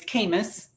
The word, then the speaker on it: Kamas: The name is Kamas, like famous, only not so much yet. And it's spelled a little differently, so it's Kamas.